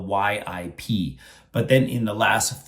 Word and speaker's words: Yip: And that means a lot of people say Ip Man. And so that is another very common mispronunciation of his name. So how should they say that name? Because in Chinese, no matter Mandarin or Cantonese, we pronounce the Y and I is the same pronunciation, is E. So it's come together, it will be yip.